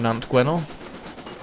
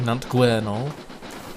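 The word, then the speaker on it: Nant Gwernol: over five and a quarter miles away from nantueno sorry nante guerinol with at least a semblance of this class pronunciation here we are right on and surrounded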